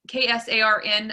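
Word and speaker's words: KSARN: if is is it is it k sarn or k k s a r n i don't know if pronunciation i say k sarn he's hard i was right okay um k tharn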